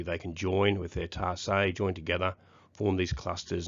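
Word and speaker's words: tarsi: That says tarsus, but it's pronounced tarsay.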